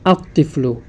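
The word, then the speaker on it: الطفل: হয় তাহলে আমরা আলিফ এই আল যুক্ত শব্দের লামটি উচ্চারণ হবে না দেখুন তিফলুন এখানে যদি আলিফ লাম যুক্ত করি আমরা তাহলে উচ্চারণ হবে আত্তিফলু রজলুন এ শব্দের শুরুতে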